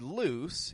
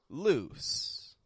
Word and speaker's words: loose: nice thing right well that word loose is ending in a voiceless sound an s s loose now in a few